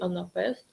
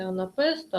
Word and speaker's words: анапест: другому складі три складова і анапест на останньому складі наголос анапест три складова